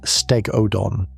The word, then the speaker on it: Stegodon: Stegodon, pronounced Stegodon, an elephant relative with tusks set so close together that the trunk probably had to lie across one side.